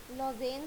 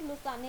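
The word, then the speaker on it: Lausanne: Athens Greece, लॉजेन Switzerland, Munich Germany, Kuala Lumpur Malaysia. इसे लॉजेन भी बोलते हैं और लुसाने भी बोलते हैं। कुछ लोग लॉजेन बोलते हैं तो कुछ लुसाने।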